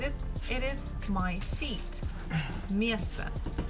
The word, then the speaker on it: место: Again, me, syllable me is stressed, so we must pronounce it as it is. But the last one, again, we have O, it is not stressed, so we say it as A. Место, место. Это мое место.